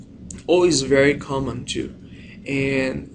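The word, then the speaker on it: を: second one is o o is very common too and though you pronounce o it is written with W okay and it shows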